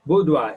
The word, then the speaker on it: boudoir: Boudoir is a private room, a bedroom for a woman. B-O-U-D-O-I-R is pronounced as boudoir.